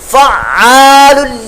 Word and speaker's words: فعال: آواز، ذو العرش المجید، فعال لما یرید، یہ تلفظ بھی اس کا عین کا خاص کر جو ہے وہ درست کیجئے گا۔ بعض لوگ بالکل بھی